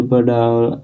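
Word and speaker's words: Bada: Then हम बात करें बाडा की। जी हाँ, बाडा एक सैमसंग इलेक्ट्रिसिस है। ये बाडा नहीं है, बड़ा, नो डेट बाडा, एक तरह से बड़ा आप मान लीजिए, इसका प्रोनाउंसिएशन है।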